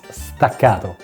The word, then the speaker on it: staccato: They are stero or since this is an Italian word and I'm an Italian guy here is the correct pronunciation for you guys. It's stacato.